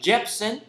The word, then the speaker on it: Jepsen: Jepsen.